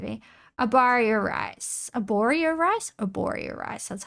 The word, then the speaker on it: Arborio: Arborio rice.